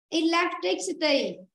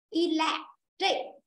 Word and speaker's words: electricity: Từ này có đuôi ET. Vì vậy trong âm nó sẽ rơi âm trước nó. ET là trước nó, vì vậy nó sẽ rơi âm 3. Electric. Nó rơi vào chữ trích.